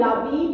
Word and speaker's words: habite: Il habite, on ne prononce jamais un H, c'est un H muet, à Toulouse.